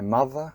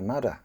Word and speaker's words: mother: as an S and native Cantonese speakers often mispronounced it as an F. The voiced th. Do you say my mother cooks very well mother mother, or do you say my muzzer cooks very well? Or my mudder cooks very well.